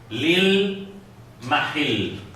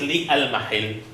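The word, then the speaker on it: لِلْمَحَلّ: Lil mahil. So it is li al mahil, but we don't pronounce it li al mahil. We pronounce it lil mahil.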